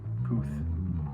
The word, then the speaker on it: Puth: Puth. That's how you pronounce it, Charlie Puth.